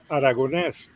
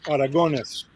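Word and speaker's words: Aragonés: and by the way the pronunciation of my last name in Spanish will be aragones but in English is aragones Aron yeah Jeff I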